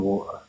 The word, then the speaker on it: water: Northerners don't pronounce the T in water.